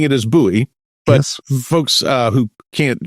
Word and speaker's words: Buche: So, I'm saying it as Buoie, but folks uh who can't who would know otherwise, it's actually spelled B U C H E.